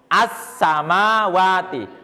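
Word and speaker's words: السماوات: Ya, al-nya suara lamnya hilang. Kalau penulisannya masih ada ini ya kan masih ada kan alif lam ya. Tapi lamnya enggak dibaca seperti hilang. Kamu bacanya apa ini? Ini assamawati. Assam kayak enggak ada lam kan ya.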